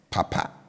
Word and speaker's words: papa: on both syllables likewise Papa as hand fan will always have a low tone on both syllables Okay so they typically